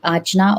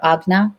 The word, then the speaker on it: Ajna: these type of things um and then the ajna or agna the different pronunciations for that that's our third eye that's